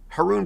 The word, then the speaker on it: Haroun: do then you'll remember my last name rhymes with baboon harun baboon i know it sounds